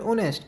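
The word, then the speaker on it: honest: लिखने में ऑनेस्ट बोलने में ऑनेस्ट। क्योंकि एच क्या होता इसमें एच साइलेंट रहता है।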